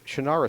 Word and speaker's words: Shannara: He's the international best-selling author of the Shannara series. He pronounces it differently. It's Shannara. That's how it's spelled. That's, of course, how you pronounce it. He's wrong. I'm right.